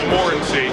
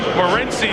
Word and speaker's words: Morency: Again, when he walked into our meeting yesterday, we asked, how do you say your name? He said Morency. Morency is what you've heard through the balance of the 2004 second half of the season.